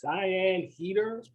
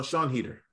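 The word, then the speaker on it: Sian Heder: pronounce the director's name is this cyan heater uh sean heater sean heater okay thanks we just want to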